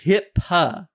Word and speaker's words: HIPAA: It's HIPAA. HIPAA. It's spelled weird.